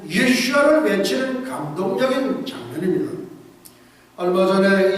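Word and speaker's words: ישוע: 7만 명의 이집트 기독교인들이 유명한 동굴교회에 함께 모여서 10분간 예수님의 히브리어 발음인 예수아를 외치는 감동적인 장면입니다.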